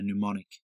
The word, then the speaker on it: mnemonic: So it's just a memory device to remember something by a mnemonic. That's spelled M-N-E-M-O-N-I-C, mnemonic. It's a silent M in that word, if you're looking it up.